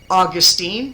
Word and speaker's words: Augustine: to come from um Augustine and yes that is St August depending on whichever way you call him I don't really care or Austine that's another way to pronounce it okay so he obviously